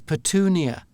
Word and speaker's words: petunia: as well about the American pronunciation which is patunia. So I had to to say like a flower. Yeah. Yeah. So I had to get used to saying patunia.